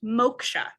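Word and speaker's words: मोक्ष: like m o KSA very good yes it's pronounced mocha right and so mocha yes it means Enlightenment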